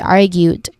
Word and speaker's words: argued: First syllable is R, which is the stressed syllable. It has a short A vowel sound. And then followed by gued, which has a gued, argued, which has a long U vowel sound.